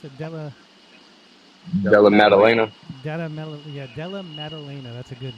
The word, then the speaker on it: Della Maddalena: So, okay, MMA Council, on 315, Muhammad versus Della, how do you pronounce it? Della Maddalena.